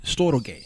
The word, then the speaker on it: storge: Storage.